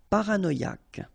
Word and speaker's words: paranoïque: And then y pronounced like mi h is not pronounced mythique d'origine nomade pronounced officiel paranoïque ok remember q u e k Paranoque. Paranoque.